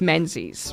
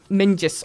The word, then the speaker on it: Menzies: There's a variation of it, which a lot of people say is Menzies, right? Menzies. But that's because in the original Scottish, it was like Mingus or like Minzius.